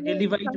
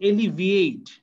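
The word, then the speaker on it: alleviate: এটা আমি বলতে চাচ্ছিলাম, এটা ও উচ্চারণটা একটা ভুল উচ্চারণ করছে, ওর এলিভাইট বলছে, এটা এলিভাইট না, এটা হচ্ছে এলিভিয়েট। এলিভিয়েট, ভিআই আছে দেখো, এলিভিয়েট।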